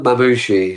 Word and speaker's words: Mamushi: Beyond Mamushi, so Mamushi. Mamamushi. Yeah, Mamamushi. Mamushi, Okay. yeah. So Mamushi Yeah. is Japanese for snake.